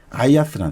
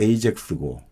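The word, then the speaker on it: Ajax: 그 아들이 아이아스라는 사람이에요. 아이아스. 그 아이아스 하면 우리가 아이아스 하면 좀 그리스 발음으로 들으니까 좀 낯선데 이게 이제 영어로 하면 에이젝스고 그리고 우리 네덜란드에 제가 알기로 그 아약스 팀 있죠.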